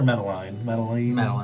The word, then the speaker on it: Meline: Is Meline or Meline? Meline, okay. I know I was saying it wrong last time, but we are investigating their disappearances.